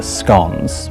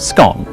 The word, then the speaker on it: scone: move on to the scones. Pronounced scone, not scone.